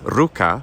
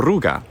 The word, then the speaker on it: Ruga: like this ruga and it looks like it's ruka but it would have been the ruga and he would have